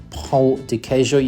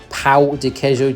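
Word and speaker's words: pão de queijo: You got to be very careful how you pronounce that because if you say pa dejo to a Brazilian, they'll probably laugh at you cuz pa dejo means something very different to pjo. You should say p dejo.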